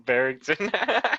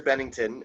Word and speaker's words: Bennington: He called him Barrington. Yeah, it's Chester Bennington and I can't remember the other names.